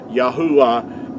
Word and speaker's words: Yahuah: pronounced making vowel sounds yahuwah is the way that our Creator's name is pronounced I hope this has